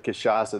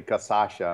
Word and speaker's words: Cachaça: And a lot of people struggle with Cachaça. They usually are dyslexic and they say, instead of Cachaça, they say Casacha and put the sh on the back part.